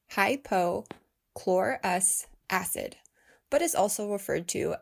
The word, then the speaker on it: hypochlorous acid: 20 20 then yes that includes covid19 it's pronounced hypo chlorus acid but is also referred to as electrolyzed water